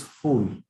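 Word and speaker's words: फूल: So a flower in Hindi is called as fool. Okay. And a bridge in Hindi is called as pull. There's a very slight difference of pronunciation between fool and pull.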